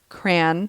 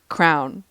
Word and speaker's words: crayon: We say crayon with 2 syllables, but some people say cran. As in cranberry. Or crown.